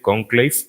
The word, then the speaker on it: Conclave: con esta película que se llama cónclave en español que van a hacer el mismo título en inglés pero se pronuncia diferente conclave y pues esa es